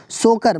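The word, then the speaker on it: Tso Kar: देखिए तसोकर लिखते हैं लेकिन सोकर मतलब त जो है कि साइलेंट रहता है, सो मोरीरी लद्दाख में और सोकर लेक लद्दाख में।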